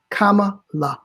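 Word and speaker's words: Kamala: Say comma, comma, la.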